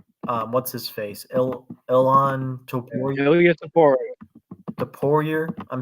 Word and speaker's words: Topuria: Ilan Ilya Topuria. Topuria. I'm saying like, am I saying it right? Ilya Topuria. Ilya Topuria. I thought it's Topuria, like Poirier. Dustin It's Poirier.